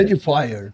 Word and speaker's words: Edifier: E a pronúncia é Edifier? Como é que é? Edifier.